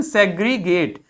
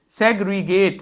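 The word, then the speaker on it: segregate: क्या था pronunciation, सेग्रीगेट, सेग्रीगेट, सेग्रीगेट, सेग्रीगेट, सेग्रीगेट।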